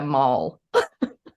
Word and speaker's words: moll: They said it like it's a slur, but it's definitely like, yeah, I didn't realize that that's what like, and it's spelled MOLL. Yeah, mole.